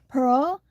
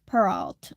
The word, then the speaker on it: Peralt: He was a very short, very French man who pronounced Peralt correctly. Pero, not Peralt.